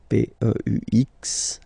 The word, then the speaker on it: peux: P-E-U-X, okay, don't pronounce the final X.